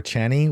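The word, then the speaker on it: Chani: So I think in the movie they call her Channy, which is what I called her in my head, but I think Frank Herbert had intended her to be called Chaney.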